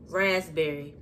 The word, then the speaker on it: raspberry: want to ask me raspberry raspberry raspberry no i don't pronounce raspberry i pronounce no damn p anyway um the next